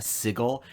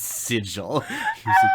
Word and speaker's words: sigil: matt mercer like he called it a signal and people were like no no no no no matt it's sigil what was i supposed to